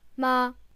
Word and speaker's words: 吗: Very generally, in Chinese, if a sentence ends in the word ma, the light tone, then it's usually a question.